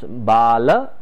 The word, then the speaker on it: Bala: we say it is baal vihar the moment you say baal vihar it is a sanskrit word or you understand it in hindi baal in hindi means hair so you probably will